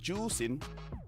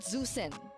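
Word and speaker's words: Zhuxin: pronounce zusin no no it's pronounced as juin juen so it's not zusen I can speak mandrin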